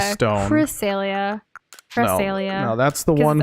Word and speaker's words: Cresselia: Oh, and I said Rosalia. I think I mispronounced her name. That's what I'm trying to evolve to. Yeah, I need a shiny not stone. Cresselia.